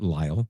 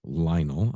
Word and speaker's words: Lionel: Not Lyall, Lionel.